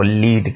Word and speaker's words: lead: और अगर मेटल की मीनिंग में लें तो फिर ये लेड बनेगा। ठीक है, प्रोनाउंसिएशन इसकी डिफरेंट होगी, स्पेलिंग वही रहेंगे LEAD। इसको जब आप बोलेंगे तो इसका फ़र्क पता लगेगा कि ये लीड है या लेड है।